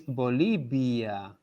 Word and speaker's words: Bolivia: the end of the look at how i pronounce the second half of the word bolivia oh yeah there is a b sound oh yeah but it's not the yeah as well it's not it's bolivia okay so yeah so